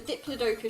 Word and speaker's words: Diplodocus: and earlier this year I discovered the Diplodocus should be pronounced Diplodocus but given that so stupid-ass decision I'm elected to ignore it it will always be Diplodocus to me I think are they